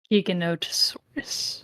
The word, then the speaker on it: Giganotosaurus: wait is it really called gig gig osaurus Giganotosaurus okay that's little little clunky little clunky that's the that's the way it's spelled anyway mhm Giga not osaurus it's a